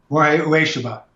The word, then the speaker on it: Morihei Ueshiba: And the example I would love to hear you describe is you shared, how do you pronounce it? Is it Morihei Ueshiba? Morihei Ueshiba.